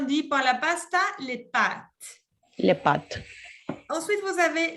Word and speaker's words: pâtes: pâtes. Que son las pastas, ya en general, les pâtes. Ojo, no decir la E, porque si me dice pâté, el Es pâté pâté.